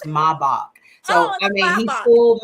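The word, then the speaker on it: Maybach: I actually I was like oh it's a mayback and he was like no it's German it's pronounced maok so I mean he fooled me on like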